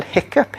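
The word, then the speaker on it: hiccough: o u g hickoff but we pronounce it hiccup okay so there are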